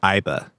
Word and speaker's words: AI: yes for one thing like they have you pronounce it as AI as opposed to aibi because you can refer